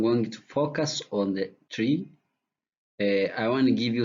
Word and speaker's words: trie: when I'm going to this tree comes from retrieval. This term was coined by Edward Franklin, who pronounced this tree as the word of retrieval.